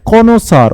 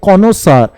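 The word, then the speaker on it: connoisseur: ব্যক্তিকে তুমি কি বলবে, কনোসার। উচ্চারণটা কি হবে এর, কনোসার, উচ্চারণ হবে কনোসার।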